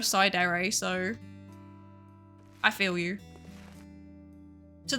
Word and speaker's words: Psydere: People always pronounce my name as Sidear instead of Sidere.